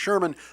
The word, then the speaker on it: Szerman: the H should be it's pronounced Sherman but it's spelled zerman because I don't know